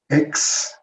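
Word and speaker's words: ἐξ: que es una xi, se pronuncia x, ex, que se presenta así cuando la palabra que sigue está en vocal.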